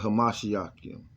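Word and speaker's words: המשיח: We call it Hamashiach. That's what Christian mean in the ancient Paleo Hebrew. That's how you pronounce it.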